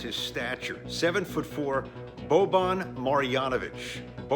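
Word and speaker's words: Marjanović: the nba player and nikki how do you pronounce this player's name uh that's boban marijanovic marjanovic ed cohen what do we got you know his name is as imposing as his stature seven foot four bobon marianovich it's bovine i see where you were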